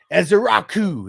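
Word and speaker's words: Ezeiruaku: DT or green um or Ezabuka. I don't know how to pronounce his name or do they take Caleb? They take Johnson. Smart. They took Ezrau. There you go. That's how you pronounce it.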